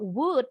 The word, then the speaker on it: wood: U-nya nggak monyong wood. Wood. Pendek ya, U pendek.